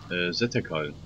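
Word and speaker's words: Sethekk: Zetekal. Zetek? Spricht man es mit TH aus oder mit T? Mit TH, glaube ich.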